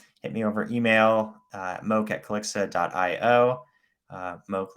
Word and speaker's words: Moock: Moock like Coke is the easiest way to pronounce that.